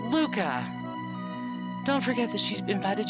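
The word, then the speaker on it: Lucca: pronounces this dunno sorry i've always pronounced it luca but two c's if you're borrowing from italian would be lucia or lucha you'll hear me interchangeable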